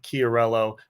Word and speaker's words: Chiariello: be here with you you did good too on the pronunciation of my name started in my head a few times I was intimidated when I read it you broke it down into syllables made it nice and easy for me so I